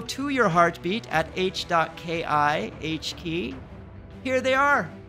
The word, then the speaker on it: H.ki: can just press the H key. And you notice the similarity? H.ki is pronounced H key, which is the hot key you press to create a moment.